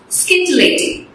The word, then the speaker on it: scintillating: Scintillating. Scintillating. That's how it's pronounced actually, scintillating.